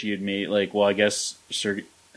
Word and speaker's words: Sergachev: Bet you wish he had made, I guess, Sergachev, how do you say that guy's name again?